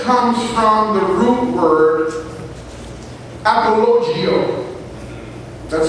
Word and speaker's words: apologio: Apologetics comes from the root word apologio. That's spelled A-P-O-L-O-G-I-O.